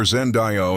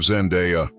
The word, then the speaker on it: Zendaya: 12, most fans mispronounce her name constantly, calling her Zendayo instead of Zendeya, derived from the Shona language of Zimbabwe, her name literally translates to "to give thanks."